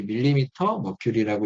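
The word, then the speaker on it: mmHg: 뭐 그런 건데 아무튼 요거는 이제 밀리미터 머큐리라고 읽으시면 맞아요 동네가 경매가 나누는데요 일단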